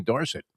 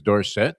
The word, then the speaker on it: Dorsett: It's kind of like mispronouncing Tony Dorsett. Exactly. Jersey was Dorset. Then when he came out and said it's Dorset, we said, okay, Tony Dorsett.